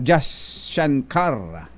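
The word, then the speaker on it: Jaishankar: sa Indian external Affairs minister na si subramanyam Jas shankar mm sana tama yung ning bagit ko Actually yan ang pinakatamang pronunciation na narinig ko e ganon ba Indian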